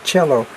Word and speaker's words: Coelho: It might be Paulo, the way that it's pronounced, because he's Brazilian. And then it's Coelho, Paulo Coelho, but it's Coelho.